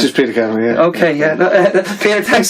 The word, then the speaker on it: Peter Kavanagh: Do I pronounce that right, Peter? Peter Kavanagh. It's just Peter Kavanagh, yeah.